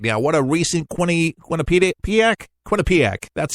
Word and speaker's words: Quinnipiac: What a recent Quinnipiac, that's how you say it, 30%.